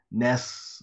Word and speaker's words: NES: the description in tend to themselves says that Ness is pronounced as ness it's not NES it's not